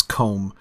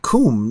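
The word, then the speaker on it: Combe: Fourth Dauntless, I kind of go back and forth with how I pronounce comb. On the one hand, I always want to say coombe, like with two O's, like meaning a small copse of trees. But it's only got one O, right?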